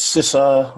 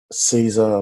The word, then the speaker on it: Sisa: It's Sisa, or Caesar, but we'll go with Sisa.